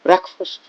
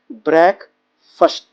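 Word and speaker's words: breakfast: आप थोड़ा हैरान हुए होंगे, मैंने बोला ब्रेकफास्ट, आप इसको बोलते हैं ब्रेकफास्ट। ये प्रोनाउंसिएशन एब्सोल्युटली गलत है, एब्सोल्युटली रॉन्ग। तो इसके नाश्ते के लिए हम वर्ड यूज करते हैं ब्रेक फर्स्ट। अब मेरे साथ बोलिए, ब्रेक फर्स्ट, ब्रेक फर्स्ट।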